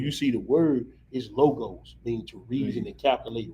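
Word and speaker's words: λόγος: the word the word word word means lo is uh pronounced logos but it is it's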